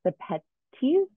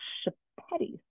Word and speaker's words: Sepetys: historical fiction is Ruta Sepetys. And she said it that way. When I looked up her pronunciation, she said it with an S, but I think in Lithuanian, it's Shepetys.